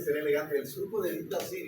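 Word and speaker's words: Bichat: La siguiente fisura se llama el surco de Bit-Dazir.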